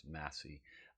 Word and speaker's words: Massé: I'm pretty sure it's Massé.